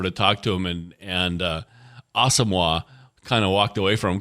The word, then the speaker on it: Asamoah: It's Asamoah. Yeah, Judd Zulgad went over to talk to him, and Asamoah kind of walked away from him because Judd's